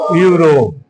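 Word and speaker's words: Europe: लेकिन उच्चारण करो, प्रोनाउंसिएट करो, पढ़ो उसको क्या लिखा हुआ है? यूरोप। ये आपका यू से आ रहा है, यानी यह क्या है? आपका कॉन्सोनेंट है, व्यंजन है।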